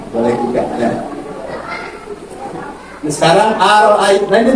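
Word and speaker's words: أرأيت: Nah, sekarang aro'aita. Nah, ini bacanya gini.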